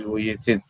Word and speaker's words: Vujicic: The pronunciation is Vujicic. Okay, so which is what Nick Vujicic has faced his whole life.